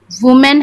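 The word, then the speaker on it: women: वुमेन है तो वुमेन अगर सिंगुलर है डब्ल्यू ओ एम एन है तो हम वुमेन प्रनाउंस करेंगे उसको, और डब्ल्यू ओ एम ई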